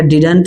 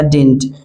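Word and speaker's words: didn't: Next है डिड नॉट, और डिड नॉट का जो कॉन्ट्रैक्शन होता है डिडंट भी आप प्रोनाउंस कर सकते हैं, डिडंट या डिंट, डिडंट या डिंट, डिडंट या डिंट, डिंट डिंट डिडंट।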